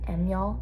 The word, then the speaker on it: Amyl: Like when you see, I don't even know if I know how to say it, Amyl, it's AMYL.